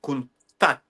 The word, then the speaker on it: Countach: Everyone who wax lyrical about the Countach or the Countach, as it's meant to Yeah. be pronounced. Lamborghini Countach is the pronunciation.